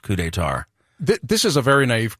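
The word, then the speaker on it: Coup des Tartes: it looks like CP de Tarts but it's pronounced cou d' tar th this is a very naive question so once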